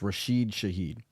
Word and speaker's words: Rashid Shaheed: So it's Rashid Shaheed.